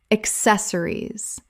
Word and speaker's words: accessories: Accessories. Correct pronunciation. Accessories. Four syllables with the stress on the second.